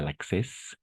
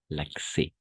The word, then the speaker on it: accès: À l'accès, d'accord? Pas l'access, l'accès.